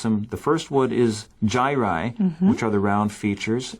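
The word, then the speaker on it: gyri: there's some scientific words here here's how we pronounce them the first wood is Giant which are the round features and the second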